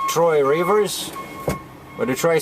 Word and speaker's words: Trois-Rivières: It's Trois-Rivières. Oh, Trois-Rivières, I know, okay.